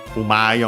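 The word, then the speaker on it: うまい: But yeah, accented on the U, umai on its own, accent on the ma again, same rule for the accent.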